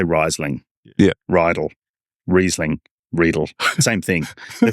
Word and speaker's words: Riedel: Riedel rhymes with needle. Riedel rhymes. If you think of it phonetically, it's like Riesling. Yeah. You don't say Riesling. Yeah. Riedel, Riesling, Riedel, same thing.